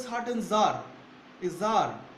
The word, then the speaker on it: tsar: জার দেখো, জার উচ্চারণটা কি? জার, TSAR, জার is also spelled as, এই দেখো এখানে দেখো, দেখছো তো সিজার, এই যে এখানে দেখো সি আছে, সিজার, এটা উচ্চারণ করে সিজার বলে উচ্চারণ করে, সিজার, জার ওর সিটা উজ্জ্ব থেকে যায়, সিজার।